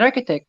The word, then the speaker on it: architect: complex if he can in architect ch is k and uh in arch